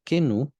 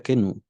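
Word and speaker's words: kenoo: Si la quieren apuntar, es la palabra kenu, pero es con K y se escribe con doble O al final, o sea, se escribe que no O. Así se escribe, pero se pronuncia kenu.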